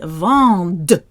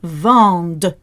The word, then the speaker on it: vendent: Again, that ENT is silent, but we are going to be spitting out the D. Ils vendent.